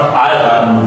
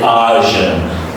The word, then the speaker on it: iron: So this is not iron, we say iron.